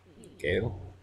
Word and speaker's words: Gale: Gale. That's a good name. Rhymes with sail.